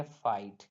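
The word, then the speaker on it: fight: क्या पढ़ेंगे नाइट पढ़ेंगे उसी प्रकार एफ आईजी एच टी एफ आई जी एच टी में भी क्या आ रहा जी एच टी लास्ट में आ रहा तो जीच यहां पर साइलेंट हो जाएगा तो इसे पढ़ेंगे फाइट क्या पढ़ेंगे एफ आई जीी एच टी को फाइट पढ़ेंगे क्या पढ़ेंगे फाइट पढ़ेंगे उसी प्रकार एल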